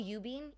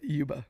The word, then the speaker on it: Yuba: Ubing? How do you say Ubing? Yeah, Yuba. Yuba. Y-U-B-A. Oh, Yeah, Y-U-B-A. Y-U-B-A. Oh, Yuba, my bad. Yuba. Yeah, you said it wrong.